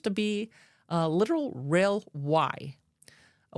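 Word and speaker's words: wye: The trail itself, from an aerial view, appears to be a literal rail Y. A Y is where a train could turn around. That is spelled W-Y-E, in case you're wondering.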